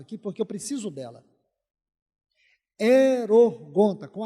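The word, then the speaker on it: ἱερουργοῦντα: Erorgonta, com H. Erorgonta seria a pronúncia mais próxima do português.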